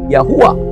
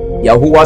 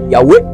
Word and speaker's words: Yahuwah: En hébreu ancien, c'est ce qu'on va appeler Yahuwah. Yahuwah, c'est ça. D'autres vont mal prononcer, mal traduit par Yahweh. Il y a d'autres qui vont dire Yahvé.